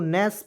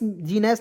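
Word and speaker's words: gnash: दो देखिए यहां प जी को साइलेंट कीजिएगा एन ए एस एच को नस पढ़ेंगे एन ए एस एच को क्या पढ़ेंगे नेस पढ़ेंगे इसका हिंदी हो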